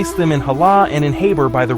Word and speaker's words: Halah: Hala and Hore both start with the letter H, but this H actually has a diiocritic dot under it in both cases, indicating that it's supposed to be pronounced with a glottle scraping sound.